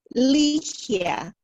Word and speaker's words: Ligia: Ligia. Ligia. Ligia. The G is like an H. So L-E-H-E-A-H would be phonetically.